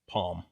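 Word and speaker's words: Pom: He'll fucking pronounce it. It's With Palm.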